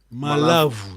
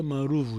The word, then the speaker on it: malavo: Mas o português pronuncia maruvo. Estamos a seguir? Estamos a seguir? E hoje, quando um cidadino sai de Luanda, vai na região do Congo, anda a dizer maruvo, estamos a seguir? Porque aquilo como se diz cool em português? Aquilo vai sair como uma pessoa civilizada. Se pronunciar malavo, não sai bem.